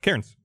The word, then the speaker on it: Cairns: We went up to a place called, it's on the map, it's called Cairns, C-A-I-R-N-S. Yeah. How do you pronounce that? Cairns.